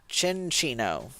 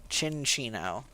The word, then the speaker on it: Cinccino: I've definitely Oh, it's pronounced like chinchilla. Sin- Chin- Cinccino. Cinccino.